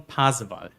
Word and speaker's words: Pasewalk: It's Rhein, then you have Weser, and then you have August von Pasewalk. So Rhein, Weser, and August von Pasewalk.